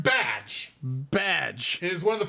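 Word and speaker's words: Bdg: It's pronounced badge.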